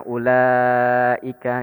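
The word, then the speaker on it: أولئك: Jadi langsung aja bacanya ulaika gitu. Ulaika gitu.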